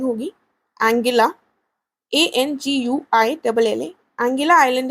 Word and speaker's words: Anguilla: Caribbean सी में एक island है, ये गलत लिखा हुआ है दोनों जगह, इसकी स्पेलिंग होगी एंगिला, ANGUILLA।